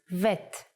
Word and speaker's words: vet: If you leave out the dot, bet becomes vet. The sound of vet is V, but we don't count vet as a separate letter in the alphabet.